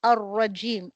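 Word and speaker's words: الرَّجِيم: तो अल र जीम यहां र के ऊपर र के ऊपर शदा है। सो टू two times a raw doubling of द रद्दा means the doubling of the word okay Al र जीम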